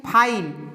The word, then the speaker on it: file: इस तरह FILE, फाइल, last में ई का कोई उच्चारण नहीं कर रहे हैं हम लोग।